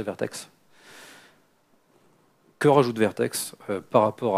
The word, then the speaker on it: Vert.x: Alors je dis Vertex de temps en temps, hein, mais la vraie prononciation c'est Vertex.